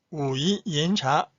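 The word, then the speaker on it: 武夷岩茶: 그다음에 우이 옌차, 우이 옌차. 빨간 글씨 쓴 글자 차이죠. 이 발음을 꼭 기억하세요.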